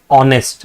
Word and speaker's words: honest: But see when you pronounce this word it says honest right. The word that is coming out is O.